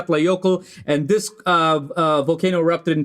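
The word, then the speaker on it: Eyjafjallajökull: letter yeah yeah because the actual pronunciation I have to practice this and look it up is a F yokels okay so for any Icelandic people that are listening you can grade my pronunciation but that's how it's pronounced it's a F yeah play yoco and this volcano erupted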